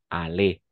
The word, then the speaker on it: aller: Pero siempre va a ser ale, ¿ok? O sea, al nivel de pronunciación va a ser siempre ale. Aller, d'accord?